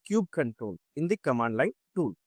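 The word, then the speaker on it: kubectl: So now kubektel right actually pronounced as cube control in the command line tool to interact with the kubernetes api server right.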